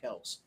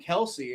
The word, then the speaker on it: Kelce: I thought the name was pronounced Kels, and I kept saying Kels, and then like people on like ESPN started saying Kelsey, and I'm like, well, that's not how you pronounce it. You guys are stupid. And then everybody just kept doing it. I guess I'm the stupid one. No, it turns out I was right.